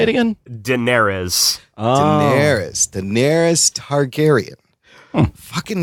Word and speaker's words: Daenerys: I'm Daenerys Wayne. I added a syllable to her name. I can't pronounce it. How are you supposed to say it again? Daenerys.